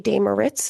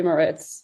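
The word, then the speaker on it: Moretz: Chloe Moritz. I don't think that's a D. Oh, okay.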